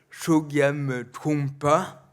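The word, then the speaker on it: Chögyam Trungpa: Il y a un auteur que j'aime beaucoup, c'est un maître tibétain qui s'appelle Chogyam Trungpa. Ça s'écrit comme ça se prononce.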